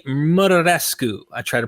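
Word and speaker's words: Muraresku: Murescu. I try to pronounce that correct. Murescu is pretty much how it is looks in English.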